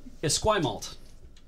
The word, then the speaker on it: Esquimalt: So Esquimalt. That's how you pronounce that.